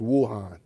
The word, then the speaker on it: Wuhan: It's actually pronounced Wuhan. Only because of my study of Mandarin Chinese for a year's work back then, but it's actually pronounced Wuhan, not Wuhan.